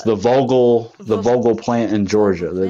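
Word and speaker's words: Vogtle: Am I saying it right? Yeah, Vogel. Vogel. It's Vogel.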